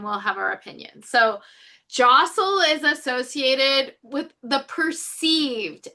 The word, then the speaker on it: deosil: Wittershins is counterclockwise and jostil is how you pronounce that word. That's looks like it's dasil but it's really jostel.